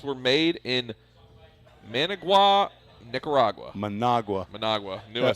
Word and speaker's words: Managua: Managua.